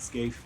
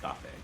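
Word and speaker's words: Skáphe: I always pronounce it Scaife, but apparently it's pronounced Scafé.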